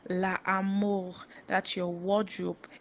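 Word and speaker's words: l'armoire: wardrobe where you H your clothes LA and it's spelled l a a r m o i r e La am that you your wardrobe l a a r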